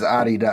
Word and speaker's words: Adidas: He's saying Adidas when he says Adidas. Adidas. The correct way of pronouncing it.